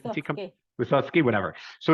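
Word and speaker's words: Wissotzky: Wichetsky, am I saying that right? Wysocki.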